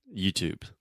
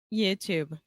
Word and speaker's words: YouTube: is that YouTube okay YouTube perfect perfect so another quick tip here is that we do not pronounce the e at the end of this word and almost always when